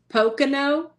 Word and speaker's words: Pocono: Pocono.